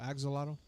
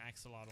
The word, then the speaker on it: axolotl: development what are you it's called ak zotel oh axolotl axon because that's it that's an axe a model but i mean i don't know that's how you pronounce it but that's a